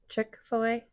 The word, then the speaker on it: Chick-fil-A: You talking about like like we just got a Chick-fil-A. Who cares? Is that how you say it? Chickfil-A.